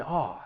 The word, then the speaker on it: awe: of fear and surprise when pronouncing this word it's just that vowel sound ah like you would have in the word saw and when talking about